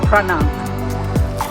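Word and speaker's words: Phra: So it's pronounced Prah. So Prah Beach, but it's PH. So in Thailand, PH is still pronounced a P. It's not a silent P.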